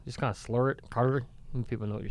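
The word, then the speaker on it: Kure: Beach, so is that how you say it, Curry? I don't know. That's a big debate. Curry, Curie, Cure. Spell it. It's K-U-R-E. That's definitely not curry.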